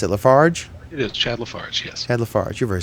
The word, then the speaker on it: Lafarge: How do you pronounce it? Lafarge? It is Chad Lafarge, yes.